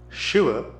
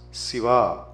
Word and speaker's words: Shiva: Shiva becomes Siva.